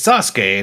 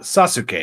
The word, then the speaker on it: Sasuke: Yeah, because one of the things they do in Japanese, the letter or the vowel U is often weakly pronounced. That's why it's Sasuke, not Sasuke.